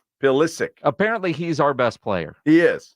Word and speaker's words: Pulisic: Pulisic? Pulisic.